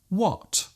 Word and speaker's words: what: they might say whip there is actually no need to pronounce the H so strongly just let the sound leave your lips naturally when what Christy whip there